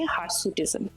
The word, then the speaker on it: hirsutism: বলি তার নাম হচ্ছে হারসুটিজম হার সুটিজম যদিও বানানটা হার নয় এইচ আইআর হারসুটিজম কিন্তু একটা ভীষণ সিগনিফিকেন্ট